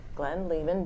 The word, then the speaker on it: Glenn Lehman: And I pronounced that right? You did get it correct. I did get it right. Glenn Lehman, because you know, he's not from Lehman Brothers.